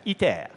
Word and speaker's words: ITER: Now, this is ITER, pronounced in French, ITER.